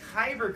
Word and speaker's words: kyber: It rhymes with cyber. It's kyber crystals.